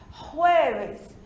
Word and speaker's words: jueves: O J, em língua espanhola, tem o som do nosso R do português. A gente diz jueves.